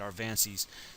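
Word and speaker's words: Aviansie: Right here, these flank things, the Avances. That's how you say it, Arvances.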